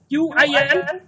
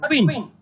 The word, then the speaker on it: Qin: Q-I-N, it is pronounced Qin, not Queen.